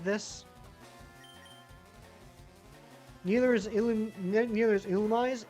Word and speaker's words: Illumise: Illumise is how you say it.